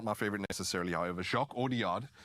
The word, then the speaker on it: Jacques Audiard: Jacques Audiard is how you say it.